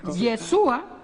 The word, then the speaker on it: Yeshua: como decir jesusa entonces se pronuncia yesua que es hebreo El Salvador masculino al